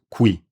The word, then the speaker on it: qui: Qui, spelled with a Q, means here, and it is pronounced qui.